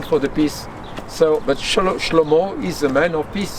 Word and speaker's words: Shlomo: If you say it in Hebrew, how do you say? Shlomo. Shlomo.